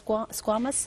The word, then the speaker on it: squamous: Now, the next one is the, how do you pronounce squamous?